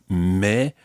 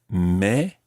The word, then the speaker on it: mais: French-speaking world you are, but you may hear a slight difference between mes, as in mes enfants, and mais j'habite à Paris. So mais, but, and mes, my.